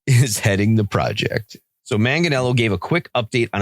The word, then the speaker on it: Manganiello: Manganiello. Joe Manganiello is heading the project. So Manganiello gave a quick update on a documentary that